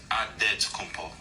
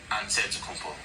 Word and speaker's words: Antetokounmpo: The Nigerian way, you gotta say with a D, so it's Antetokounmpo. But in the Greek way, you say with an NT, like Antetokounmpo.